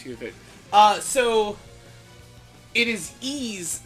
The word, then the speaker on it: Ys: So it is E's 7. It is pronounced like E.